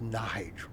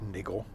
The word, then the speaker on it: Nigel: It's pronounced Nigel, not Niggle.